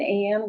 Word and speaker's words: Anne: put my name in an with an e um silent E Vanda an Creek more